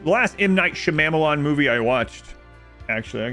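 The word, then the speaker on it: Shyamalan: downfall trying to think of the last innight Shalon movie it's not how it's pronounced the last inight shamalan movie I watched actually I can't remember gr's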